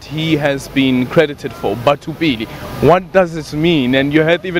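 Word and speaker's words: Batho Pele: They even call it Batupele. And then, you know, we properly pronounce it Batupili.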